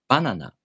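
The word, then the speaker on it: バナナ: For example, banana is pronounced banana in Japanese. High, low, low.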